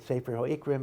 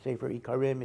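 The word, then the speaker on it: ספר העיקרים: Some people pronounce it Sefer HaIkrim, but I think Sefer HaIkarim is correct.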